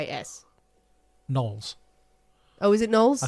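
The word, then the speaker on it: Knollys: l l y yes nulls oh is it nulls I think so oh I guess would it be oh no come on let's make it nullis nulls I suppose the Y is silent would it be back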